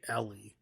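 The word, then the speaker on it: Eli: We see Ellie. I don't know how they say it in that movie. I don't know if they say Ellie. It's spelled E-L-I, but they say Ellie.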